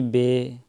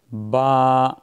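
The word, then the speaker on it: باء: تلفظ سے پرہیز کریں، یعنی بے، تے، ثے، ہے، خے، توئے، زوئے وغیرہ ہرگز نہ پڑھیں، بلکہ با، تا، ثا، حا، خوا، طوا، ضا اس طریقے سے پڑھیں۔ ان 29 حروف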